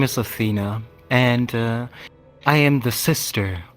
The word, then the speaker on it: Athena: Well, my name is Athena, and I am the sister of the boss. Her name is Calypso. For bulletproof glass. Zafina. Am I pronouncing that right? Bulletproof. Athena, like the Athena.